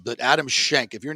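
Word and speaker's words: Schenk: names in golf Adam Shank that like it's it's spelled s-c-h-e-n-k but you know you gotta say shank like who that's like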